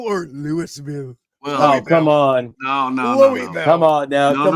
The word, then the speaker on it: Louisville: If you're in Kentucky, it's Louisville. It's Louisville, yeah. I know that. No. Just I know that. Louisville. Yeah. You have no S in there at all.